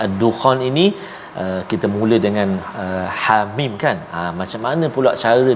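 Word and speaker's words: حم: Hamim kita baca ha 2 harakat, mim 6 harakat, mad lazim harfi mukhaffaf.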